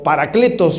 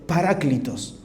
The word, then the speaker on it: Paráclitos: Él será el Paráclitos o Paracletos más conocido, pero es lo mismo, depende como se lo quiera pronunciar. La pronunciación correcta es Paráclitos.